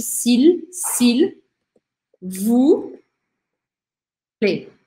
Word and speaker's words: s'il: Aqui esse L, eu tento pronunciar ele fortemente. Eu não falo s'il, eu não engulo o L. Eu tenho que falar o L separadamente. S'il, s'il.